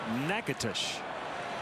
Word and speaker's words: Nacogdoches: Humber was born in Texas in a town called, it's spelled Nacogdoches. I believe it's pronounced Natchitoches.